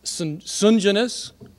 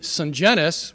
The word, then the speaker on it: Sungenis: My name could be pronounced Sungenis, as Ernest did on Tuesday. And he said he did that before he met me, until I corrected him at the airport. Or it could be Sungenis, which is the proper way to say it, and that's what I told him at the airport. Or it could be Sungenis, with the accent on the third syllable.